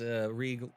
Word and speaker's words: Reeg: And Reeg famous as Reeg rhymes with league.